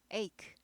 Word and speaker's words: ache: headache. 크 발음 납니다. ache.